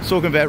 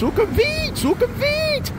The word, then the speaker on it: Sukhumvit: Even him, you can leave your comments telling me I'm saying Sukhumvit wrong every time. Actually, it's Sukhumvit. You need to say it like a Thai person.